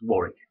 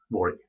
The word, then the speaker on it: Warwick: It's Warwick. Warwick. How you pronounce it?